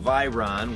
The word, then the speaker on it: Veyron: some fun plug through the bugera by Ron and it is pronounced by Ron in case you were wondering we're running through the